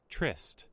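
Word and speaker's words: tryst: that word even mean price chist is how it's pronounced a private romantic rendevu between lovers trist trist okay but they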